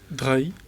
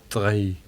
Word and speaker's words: Drahi: oligarch Master of the Universe types called Patrick Drahi. Or Drahi. How would you pronounce that in French? Drahi. Drahi.